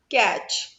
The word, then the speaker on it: catch: Then catch. C-A-T-C-H. So T is silent here.